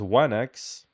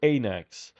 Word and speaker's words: wanax: His title was Wanax, or in Homeric speech it was Anax. The W or the gamma, the letter at the beginning, which is pronounced as W, something like this, is